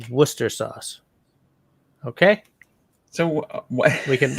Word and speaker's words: Worcestershire: It's not Worcestershire sauce. It's Worcester sauce. Okay? So we can move right along. That's a pet peeve of mine. Why are there so many letters in that word that aren't pronounced?